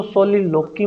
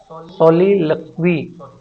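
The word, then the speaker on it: soliloquy: उसके बाद में सोलिक्वी, अच्छा इसको सोलिलोकी मत पढ़ना भाई, ये सोलिलोकी नहीं है, सोलिक्वी, सोलिलक्वी, सॉरी सोलिलक्वी प्रोनाउंसिएशन है। मोस्टली इसको कोई सोलिलोकी बोलता है ये लोकी नहीं है, सोलिलक्वी है प्रोनाउंसिएशन, इसका ध्यान देना।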